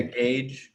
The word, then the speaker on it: gauge: I think it's gauge. I'm not sure. Gauge. Okay. Yeah, gauge is how I would pronounce that.